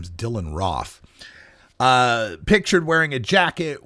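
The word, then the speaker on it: Roof: is his name and everyone's calling him Dylan rof but if you've looked at some of the news reports a little deeper you'll see that they've indicated that it rhymes with cough so his name is Dylan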